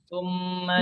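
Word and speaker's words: ثُمَّ: Pengucapan mim ini adalah seperti mim. Jadi kita katakan summa Tumma. Tumma. Dilambatkan. Ma. Tumma. Summa. Bukan. Jadi ketika domah dia harus kembali lagi ke huruf asal, makhraj asalnya, summa.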